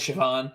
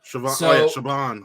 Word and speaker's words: Siobhan: Pádraic, but it's Pádraic, it's Collin, even though it's spelled Colm, Collin. And then Siobhan is Siobhan. Siobhan.